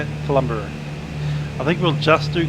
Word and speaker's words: Kalumburu: Kalumburu, that's how they say it, Kalumburu.